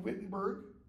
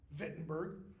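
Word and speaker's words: Wittenberg: are you here why are you not in whittenberg vitberg it's pronounced V vitberg okay and Horatio says you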